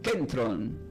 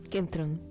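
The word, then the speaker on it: κέντρον: Y esta palabra del griego, ya que el Nuevo Testamento se produce como kentron con acento en la e.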